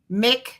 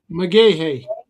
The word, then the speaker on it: McGaha: How do you say that last name, brother? McGaha? McGahey. McGahey? Mm-hmm.